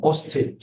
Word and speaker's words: অস্থি: এই যে শয়ের সাথে থ যুক্ত থাকাতে দন্ত স হয়েছে এটা, আর উচ্চারণটা হবে এমন অস্থি।